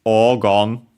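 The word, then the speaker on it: 黄金: And it's O Gon, unaccented. It's another Chinese compound.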